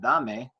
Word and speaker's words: dame: Second to last syllable is this syllable right here, da, which is the stressed syllable anyway. So da, me, da, me, da, me. The stress is on the da.